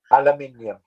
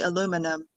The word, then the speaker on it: aluminium: that's what teacher john aluminium whoa um i would just say aluminum okay aluminum aluminium so stress is on a different syllable that's all you stressed the second syllable stress the third syllable aluminium aluminum okay aluminum